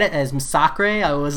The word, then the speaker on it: Massacre: Nah, you pronounced Massacre right the first time. Nah, John Garcia, it's Massacre, not Massacre. I listened to too much KT1.